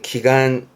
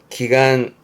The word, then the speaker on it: 祈願: 기원하다의 발음은 기간 기간 기 염자입니다.